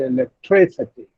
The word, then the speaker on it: electricity: Now in electricity, count the third syllable from the last. T is 1, C is 2, 3 is 3. So this is the third syllable from the last, and so this will receive the primary stress, and the pronunciation will be electricity, electricity, generosity, ability.